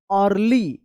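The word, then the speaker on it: early: जैसे अर्ली इ ए का अ उच्चारण होगा।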